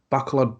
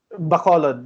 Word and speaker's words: Bacolod: pronunciations, like incorrect, but like a backlog bull rope, was it? Bacolod, yeah, Bacolod bull rope match, yeah.